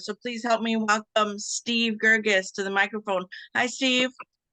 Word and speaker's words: Steve Gergis: talk about it so please help me welcome Steve gergis to the microphone hi Steve hi good morning